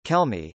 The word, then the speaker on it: Kelme: millennium sports SL trading as Kel me Spanish pronunciation Kel me is a Spanish sportswear company that creates and